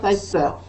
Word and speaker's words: Piper: Peter Piper. Don't look at ER, think A, Piper. Piper. Piper. Piper. Yeah, Piper. Piper. Peter Piper. No R.